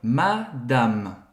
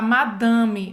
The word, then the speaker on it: Madame: e madama significa senhora Madame Madame tem um Primeiro de tudo a pronúncia a gente não Fala madame não existe essa nasalização é Madame Madame Madame Madame e